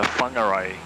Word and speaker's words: Whangarei: Is it Whangarei? It's actually the WH is an F, so it's a Whangarei. Okay. Whangarei.